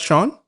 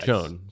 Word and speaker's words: Chone: That's Shawn?